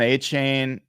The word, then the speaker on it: Achane: Devon Achane, I should say. Achane, I always get that name wrong.